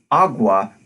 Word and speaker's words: agua: Portuguese pronunciation of agua there isn't a hard G but instead he voiced velar fricative so not a gua but agua sound number